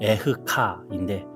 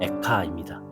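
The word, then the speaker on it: אֵיכָה: 예레미야 선지자의 슬픈 노래입니다 히브리어로이 애가 성경의 제목은 에흐카인데 빨리 발음하면 에카입니다 그래서 우리 애가와 발음이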